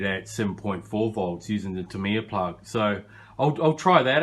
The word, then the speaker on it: Tamiya: that it's got a tamiya plug or tamaya plug depends how you want to pronounce it always pronounce it tamiya you see you've got